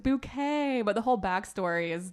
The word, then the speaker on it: Bucket: was named hin bouquet Well her name's really hin bucket she pronounces it bouquet but the whole backstory